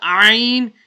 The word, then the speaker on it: Ayn: The letter Ayn is pronounced from the middle of the throat.